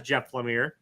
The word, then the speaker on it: Jeff Lemire: this is jeff lemire i heard it in an interview pronounced by jeff lemire as jeff lemire uh jeff lemire and